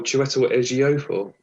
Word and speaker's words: Chiwetel Ejiofor: You've done a blinding job at pronouncing the actor there, Chiwetel Ejiofor. Oh, Chiwetel Ejiofor.